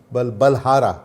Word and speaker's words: Balhara: What did you say the surname? Balara. Balara. B-A-L-H-A-R. Yes, sir. Balhara. Yes, sir. It's not difficult to pronounce.